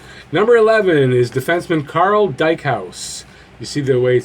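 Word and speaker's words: Dykhuis: cuz long video number 11 is defenseman Carl Dyke house you see their weight spelled some Rho u se but that's how you pronounce it he played here from 99 2000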